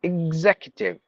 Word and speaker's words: executive: extravagant no extravagant extravagant executive executive no executive IG IG with the z sound executive facial fasten fatigue